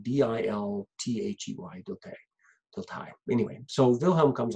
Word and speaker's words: Dilthey: Well, at the end of the 1800s, there's a German philosopher, Wilhelm Dilthey, who comes along. His name is spelled D-I-L-T-H-E-Y, Dilthey.